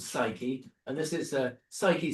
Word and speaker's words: Psyche: and this is, uh, Psyche spelled with a P, like psychology.